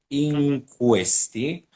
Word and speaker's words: in questi: the an in questi you don't have to say in and then questi because now i hear in questi like you you want to really pronounce the n but this and it's uh it's tied to the other word so it's in questi you you don't really pronounce the n it's not like in question it's in question okay you you want